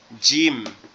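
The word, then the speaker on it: ج: এটাকে আমরা বলবো জিম।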